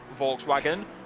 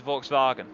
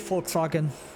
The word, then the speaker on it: Volkswagen: Also, can I just say, everybody says Volkswagen when its actual name, when its actual name is Volkswagen. It's actually Volkswagen, because the V I really is pronounced as an F.